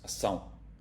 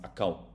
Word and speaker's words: ação: If you got a C with a little tail, this means that it's always pronounced se, no matter if it's followed by an O or an A. That's why this is ação. If this would be a normal C, it would be pronounced acão.